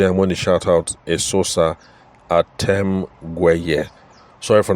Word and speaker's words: Esosa: Esosa is spelled E-S-O-S-A. That's for those of us who are familiar with the Eseosa spelling, but hers is Esosa.